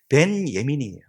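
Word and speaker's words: בנימין: 베냐민이 히브리어로 그냥 발음하면 벤 예민이에요. 벤이 아들 예민이가 오른손이거든요.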